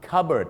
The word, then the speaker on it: cupboard: It's In The cupboard วิธี ง่าย ๆ นะ ครับ วิธี การ จำ ก็ คือ อะไร ครับ ถ้า วัน นี้ นะ ครับ คุณ Robert ไป นอน แอบ อยู่ ใน ตู้ เก็บ ของ ก็ คือ อะไร คุณ Robert Is In The cupboard นั่น เอง ครับ Robert in the cupboard หรือ ถ้า จะ เอา แบ เป๊ะ เลย นะ ครับ ไม่ ยาก ครับ เอา ภาษา ไทย มา ผสม กับ ภาษา อังกฤษ ครับ ระเบิด อยู่ ใน Card นั่น เอง ครับ CB